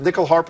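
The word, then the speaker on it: nyckelharpa: Is it nickel harp?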